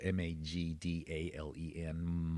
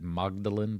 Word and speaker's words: Magdalen: It's a little weird cuz it's spelled m a g d a l e n. Magd- Seems like you'd pronounce it Magdalen, but you pronounce it Magdalen.